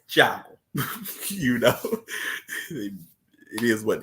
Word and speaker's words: Thiago: we find out that Raphael's real name is Thiago, or the way it's spelled is Diago. But I've always heard to say Jago.